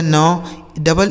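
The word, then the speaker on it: need: जैसे यन से हो गया नौ, डबल ई का उच्चारण बड़ी की मात्रा, डी से ड, यह लिखा गया आपका नीड।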